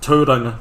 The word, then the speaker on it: Tauranga: Christchurch and Tauranga are kind of the How do you say small it? Tauranga? Tauranga.